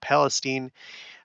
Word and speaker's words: Palestine: On the 3rd of February, the day after that, there was the East Palestine, I know it's pronounced Palestine, Ohio train derailment.